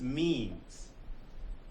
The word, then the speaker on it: meme: and he called these memes so meme me me rhymes with cream so a gene is